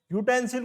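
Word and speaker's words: utensil: इसी तरह से यूटेंसिल है, यूटेंसिल को जब आप लिखते हो तो यूटेंसिल, हिंदी में प्रोनाउंसिएशन ये होती है इसकी, ये आता है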